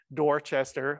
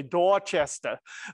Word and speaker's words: Dorchester: and posted them on dorchester all right i said it wrong you're supposed to say dorchester but and he had